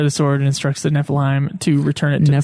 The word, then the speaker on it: Nephilim: I'm gonna call it Niflheim because I've been playing I've been watching fucking Kingsglaive, which there's a town called Niflheim, and I'm realizing that's why I'm saying it wrong.